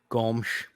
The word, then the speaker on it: Gomes: Gomes. Gomsh. Yeah. What's funny is I got to make Jonah Ray giggle by saying my name properly. He's like, yeah, I understand that. Hey, there you go. You got to spit a little bit when you say it when you speak Portuguese.